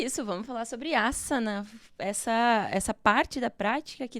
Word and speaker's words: ásana: No sânscrito, não existe o som, o S não tem som de Z. Então, mesmo que tenha só um S no termo, você vai... Opa, errei tudo. Grava, volta, edita, Ferzinha, corta. Boa, vamos lá. Asana, técnica corporal, e pronuncia-se asana e não asana.